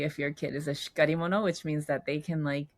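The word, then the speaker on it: しっかり者: Another word you talk about it's uh pronounced shikari mono, shikari mono? Oh, shikari mono.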